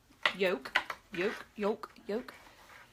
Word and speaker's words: yoke: So, make sure you don't catch your yoke into, how do you say it? Yoke. Like egg yolk.